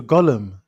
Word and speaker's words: Gollum: the the G rhymes with uh um solemn The Hunt for Gollum, Lord of the Rings.